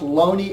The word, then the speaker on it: Looney: Actually, his name is pronounced Looney El O N E Y.